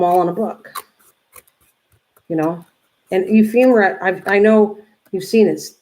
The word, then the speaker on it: ephemera: Ephemera, and I never say it right, but it's ephemera, and that's what you're doing.